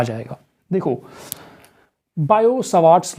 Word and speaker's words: Biot: है बायो सवास लॉ बायो पहले इसको पढ़ना सीखो बायो इसमें टी साइलेंट है बायो इसमें टी साइलेंट